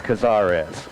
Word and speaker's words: Cazares: me and he said could you please say it right it's cazares and i said i